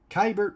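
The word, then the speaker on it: Keibert: is washington nationals catcher kybert ruiz or i think it might be cable ruiz sorry about that i i've always pronounced his ra name wrong i think it's k bert ruiz so k bert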